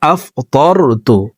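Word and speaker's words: أَفْطَرْتُ: এই যে এখানে দেখুন আফতারতু লেখা, কিন্তু হবে আফতারতু, তোকে মোটা করে উচ্চারণ করব, আফতারতু।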